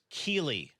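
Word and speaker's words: Keighley: Can I get some F's in Alf no chat existe for y no puede Kaylee's hacerte career? daño. It's Keeley, not Kaylee, Alf.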